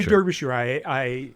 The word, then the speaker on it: Derbyshire: I say Derbyshire. I adopted my grandmother's pronunciation.